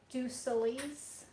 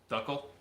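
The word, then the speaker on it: d'Uccle: How do you say them? Ducelese? Oh, Belgian Duckle.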